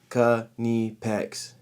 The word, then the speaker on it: Knipex: the comment section and tell me how you think it's pronounced because the actual official page for the united states for kenipex posted a video with a t-shirt that said knee pecks spelled it out it was great um